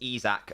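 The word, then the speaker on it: Isak: and it looks like Isaac is on by the way it's pronounced izac okay I will try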